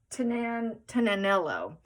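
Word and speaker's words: Tignanello: The G is silent, apparently. It's supposed to be pronounced Tinanello, which is, let's see, Dolly's Life told me that's how you pronounce it.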